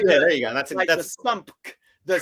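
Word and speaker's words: SUMC: That's the sump. The correct Sony pronunciation.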